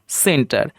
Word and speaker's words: সেন্টার: CENTER, দেখুন এখানে সির পরে ই রয়েছে, তাই উচ্চারণটা হলো সেন্টার।